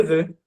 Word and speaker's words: veux: Esse e ele é um pouco ele é um pouco profundo, né? Ele é um pouco eh não é tão agudo assim, não é um e neutro, ele é bem misturado com u.